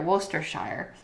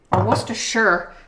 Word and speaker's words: Worcestershire: like Worcester looks like you just pretend that cest part isn't there Worcestershire Worcestershire the Shire is a